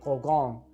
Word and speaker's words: Grosgrain: Grosgrain is French, pronounced Grosgrain, and means big grain, referring to the ridges you see in that specific type of ribbon.